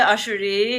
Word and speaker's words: Ashouri: Yeah, it's Ashouri is like the Iranian way of pronouncing it, I would say.